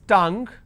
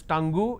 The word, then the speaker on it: tongue: all these common words its tongue please don't pronounce that as tango its tongue seen rhythm